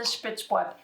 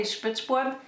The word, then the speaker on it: Spitzbube: This is the Spitzbube.